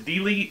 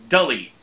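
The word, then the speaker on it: Delee: I thought it was Delete. It's D-E-L-E-E, but she says it's like Delete, Delete, without the T. So I'm saying Dully.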